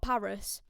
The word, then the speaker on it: PVRIS: up we have got paris now this is spelt pvris not p-a-r-i-s and let me tell